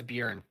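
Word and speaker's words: Björn: Yeah, mine was Bjorn. Bjorn? Yeah. Say it right, Josh. Honestly. I am saying it right. It's Bjorn. It's Bjorn. Bjorn. Bjorn. The J is silent.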